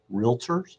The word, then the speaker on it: realtor: different markets to professionals, realtors in those realtors in those markets. Always very careful, one syllable, not two, realtor.